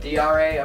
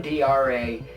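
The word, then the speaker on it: D'Are: now dra is pronounced dra apparently it's it's written d um apostrophe a-r-e so it's spelled as dare but apparently it's pronounced dra so you have and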